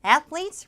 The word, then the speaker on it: athletes: 발음이 좀 특이한데 자, th 발음 athletes예요. athletes from all over the world.